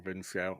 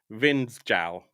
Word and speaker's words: Vindsjal: Oh, because the SJ. I'm saying Vinskal. Obviously, it's probably the Vinsk or something like that. And good evening, Bruce. Great to see you. Yeah, I'm just going to pronounce it in English. Vindsjal. There you go. Vindsjal. That's how we would say it here.